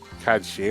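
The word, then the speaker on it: Cait Sith: Oh, you mean Kate Sith? Okay, Sith, yeah. Which I Hey, think, Sith. if they were using the correct Gaelic, would be like Kadshi or something like that.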